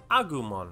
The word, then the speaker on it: Agumon: I think this guy becomes Agumon? How do you say his name? The little orange guy. Agumon.